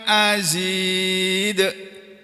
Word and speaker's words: azid: ya huruf Izhar ini an azid tulisannya azida membacanya azid azid gitu Jadi maksudnya tma kemudian